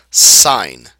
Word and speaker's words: sine: first one is pronounced sign okay it's pronounced like the word SI i g n sign all right but we